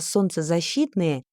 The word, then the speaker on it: солнцезащитные: Солнцезащитные. L no se pronuncia.